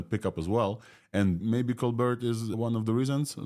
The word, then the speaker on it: ColBERT: I yeah I was I was surprised when Omar pronounced it cold bear because it was BT and then there Steven colar i' had heard him on the podcast with I think Christopher Manning from Stanford who had asked him about that so if Omar the creator of this pronounced colar unfortunately even though it's birt models I think called bear is what we're talking about but yeah from